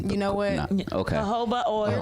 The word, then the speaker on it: jojoba: Jojoba oil. It's a Spanish oil, so you don't pronounce the J.